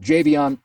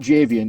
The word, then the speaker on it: Javion: with the Rams and Javion let's start with the nuts and bolts as far as pronunciation of your name it's not javian it's right yep Javion JB on so we got to